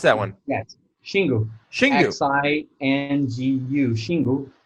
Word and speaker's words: Xingu: that you guys have opened and it's called Xingu or how do you pronounce that one yes chingu she is I and GU she knew she